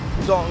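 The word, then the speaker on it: đồng: This bike was about 250,000 dong.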